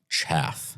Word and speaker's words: chaff: the wheat from the Chafe as they say yeah so because if you read something that's complete and total it's pronounced chaff chaff okay good I knew you'd